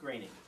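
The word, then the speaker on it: Groening: Matt Matt Matt graining is it graining or gr I think he's pronounced graining graining uh I I met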